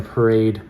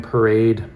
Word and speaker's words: Parade: the models were wearing parade. Um so let's see. I suppose in French it's parad, which also means just to walk.